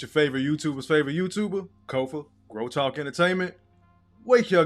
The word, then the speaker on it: Kofa: Once again, I'm your humble host, Kofa, K-O-F-A, not coffee, not kufu, not Kofi, or any variation thereof. Kofa rhymes with sofa, easy to say, easy to spell.